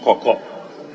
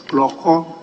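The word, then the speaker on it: Klorkor: x i i i the name is not coco should be k l o r k o r x i i i block yes evil office clearly that is what is spelled at page 26 is kloko not koko age 30 yes man what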